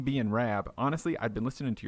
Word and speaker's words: Rab: I'd never really thought Rab, I do find a lot of folks from the States do call me Rob, or they can't pronounce the Rab bit.